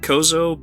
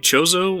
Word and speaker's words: Chozo: the kozo chozo joseph i always said kozo but apparently it's supposed to be chozo which bothers me a